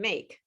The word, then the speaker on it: make: So same thing, after you say the last consonant sound, which is the k, like in make, because the E is silent, you have to stop, okay?